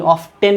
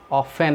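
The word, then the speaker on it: often: हाउ ऑफन, टी नहीं, ऑफ्टन नहीं बोलना है इसको, ऑफन है ये, टी साइलेंट, ठीक है।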